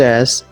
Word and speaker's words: est: So it should be pronounced as A.